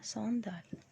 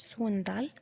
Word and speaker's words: sandales: بننطقها صندال. صندال نطقها سهل جدا. صندال مش سوندال، صندال.